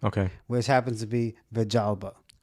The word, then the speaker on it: Villalba: But like it's spelled Villalba, but the two L's in Puerto Rico make like a j sound.